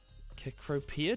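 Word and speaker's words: Cecropia: having a conversation with chief philip about uh kekropia trees that's how you pronounce them what's that what type of tree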